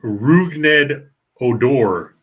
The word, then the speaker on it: Rougned Odor: Oh, okay, so it's Rougned Odor. Correct. I had to look it up to get the pronunciation.